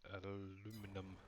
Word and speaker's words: aluminum: Plate, lead, and aluminum. Plate, lead, and aluminum. I definitely know I don't have any aluminum or aluminium, however you want to pronounce it.